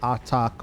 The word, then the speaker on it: Artak: so that's his name a-r-t-a-k attack or attack and however you want to pronounce it it's not a t t a k so um he's A1